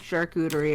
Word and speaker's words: charcuterie: Everybody likes a good charcuterie every now and then.